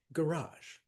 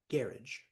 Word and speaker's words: garage: Now, garage is interesting because we say garage, second syllable. In Britain, do you know how they pronounce it? Garage, first syllable.